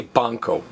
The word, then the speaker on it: banco: So anytime you think you're hearing a K, don't write a K. Say banco, banco.